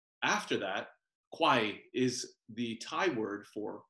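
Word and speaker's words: ควาย: So if you hear me say water buffalo, and then, for instance, we'll hear me say quai after that, quai is the Thai word for water buffalo.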